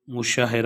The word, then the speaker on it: مشاہرہ: کریں، تو اس میں درست تلفظ جو ہوگا میم کے اوپر پیش ہوتی ہے، یہ مشاہرہ ہوگا۔ سوال نمبر 24 جو ہے وہ اس طرح ہے کہ فعل متعدی کون سا فعل ہے؟